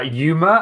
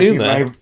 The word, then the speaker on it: Yuma: It's also Yuma. Is it not Uma? No, as you might know from the 310 to Yuma film by... I've been pronouncing that wrong for a long time.